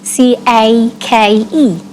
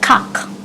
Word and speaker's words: cake: For example, you have C-A-K-E. That's cake. That's cake. So I would not say cock.